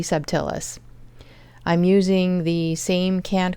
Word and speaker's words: subtilis: very first batch of be subtillus or subtilus or subtilus. I'm hearing it pronounced all sorts of different ways. I usually just call it subtillus. So that's what I'm going to go with.